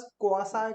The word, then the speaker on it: quasi: सो बहुत से लोग तो प्रोनाउंस करने में कंफ्यूजन कर देते हैं, सो we pronounce it एज क्वासी contract.